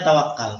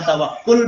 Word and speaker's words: tawakkul: Hai waktu atau tawakal Kita biasa istilahkan pelafalannya tawakal padahal bisa tawakkul bisa tawaf satu tawakkul utamakan yang kedua adalah adfir